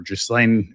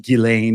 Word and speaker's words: Ghislaine: There's been a lot of speculation as to whether Gregory Maxwell is related to Jordan Maxwell or Ghislaine, or I believe it's pronounced Ghislaine if you're the French speaking.